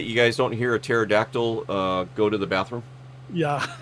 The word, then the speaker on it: pterodactyl: Hey, you know why that you guys don't hear a pterodactyl go to the bathroom? Yeah, the P is silent.